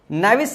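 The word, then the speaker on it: knavish: करने वाला ठीक है नेविस शब्द का इस्तेमाल है के एन ए ब आई एस एच के साइलेंट रहता है नेविस शब्द का इस्तेमाल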